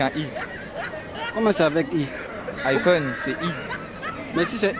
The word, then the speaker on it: iPhone: l'iPhone parce que c'est iPhone c'est en anglais le le i en anglais se prononce a c'est tout à fait